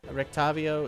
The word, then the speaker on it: Rictavio: Rictavio is this guy.